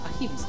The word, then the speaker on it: Ahimsa: Ese es el nombre Ahimsa. Claro, bueno, el nombre en sánscrito se escribe con H, Ahimsa con H, pero lo chilenizamos. Le pusimos una J.